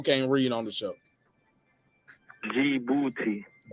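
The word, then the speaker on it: Djibouti: b o u t i guess how you pronounce it for the people who can't read on the show g booty say it one more time look booty something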